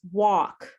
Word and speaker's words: walk: say walk walk and that l is silent it's wok just like what you cook in for if you're cooking